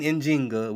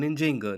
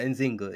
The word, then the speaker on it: Njinga: So Queen Njinga, which is the pronunciation of her name, Queen Njinga, not Nzinga. Nzinga is what the Portuguese call her. That's because their J's sound like Z.